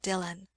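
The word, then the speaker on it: Dillwyn: w y n dwin but it is called Dylan and who was the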